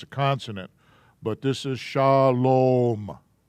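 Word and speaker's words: שלום: a v is a consonant but this is shalom not shalom i think there's a couple people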